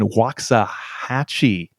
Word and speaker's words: Waxahachie: a correspondent from the dallas morning news in waxahachie texas i'm gonna say that's how you pronounce it um spoke with a judge who